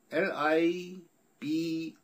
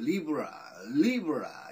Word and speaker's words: Libra: LIBRA 이렇게 써 있으니까 저는 또 당연히 이걸 Libra 이렇게 읽었는데 근데 실제 발음은 Libra 라는군요.